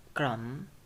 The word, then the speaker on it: crumb: The same things for crumb. The b here it isn't pronounced. Crumb without b.